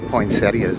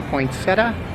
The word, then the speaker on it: poinsettia: look at all the poinsettias they have out here you say poinsettia or poinsettia i know it's spelled like poinsettia but i always say poinsettia here we are inside